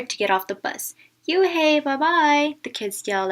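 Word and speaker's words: Unhei: no no Yuna corrected it spelled U and H II I it's pronounced you hey oh it's you hey the boy said like you hey what about hey you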